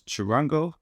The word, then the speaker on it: charango: I like the sound of this charango, that's how you pronounce it.